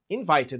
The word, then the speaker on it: invited: A gente escreve invite no presente, no passado fica invited, então a gente fala invited, a pronúncia é a mesma.